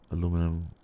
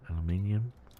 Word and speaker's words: aluminium: Aluminum. I think the brisk said they say aluminum. Aluminium. Alum. That's how the Brits say it.